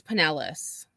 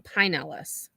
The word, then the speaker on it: Pinellas: it's just because that's you know how we pronounce it in the north but so it is Pinellas okay yeah she's saying Pinellas move us to do so we need to